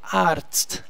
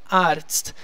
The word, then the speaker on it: Arzt: Sempre pensa que o TZ tem som de TST. Não tem erro. Arzt, Arzt. A sílaba tônica é sempre no A, tá?